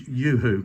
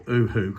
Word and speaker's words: UHU: Now the majority of this hillside's polystyrene, and what I've found is if you use UHU glue or UHU glue, depending how you pronounce it, it affects the polystyrene underneath.